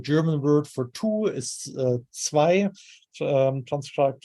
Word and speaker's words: zwei: So for instance, the German word for two is zwei, transcribed like this. So we have this affricate sound at the beginning, which is clearly cognate to the English T in two.